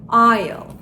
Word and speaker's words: aisle: S harfi sessiz, yani aisle. Aisle.